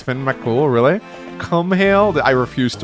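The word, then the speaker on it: Fionn mac Cumhaill: Finn Makumhale is pronounced Finn Makul.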